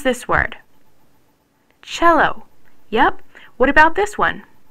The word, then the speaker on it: cello: the middle that's because when C comes before e or I it's pronounced CH H look how do you pronounce this word cello yep what about this